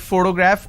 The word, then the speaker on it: photograph: so use the word photograph or picture so in this case this particular word has three syllables and i pronounce this as photograph which means i'm stressing on the first syllable but when i look